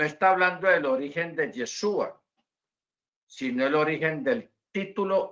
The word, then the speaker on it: Yeshua: a otros dicen yasua Nosotros hemos adoptado la pronunciación yeshua basado Pues yo lo he hecho al menos